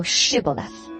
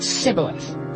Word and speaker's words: Shibboleth: If he said, Nay, then said they unto him, Say now Shibboleth. And he said, Sibboleth, for he could not frame to pronounce it right.